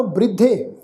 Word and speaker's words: बृद्धे: परम बृद्धे, बृद्धे ये जिहड़ा शब्द आ बब्बे नूं सिहारी, बब्बे दे पैर विच अद्धा रारा वा, धद्दे दे उत्ते इकला, इसका पाठ उच्चारण करांगे बृद्धे।